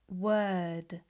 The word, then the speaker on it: word: familiar, you can practice more words that are spelt with O, but are pronounced with er.